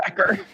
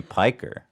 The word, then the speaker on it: Piker: Hasan Piker. What is he even saying? Pecker. Oh, he called him Pecker, but it's obviously Piker.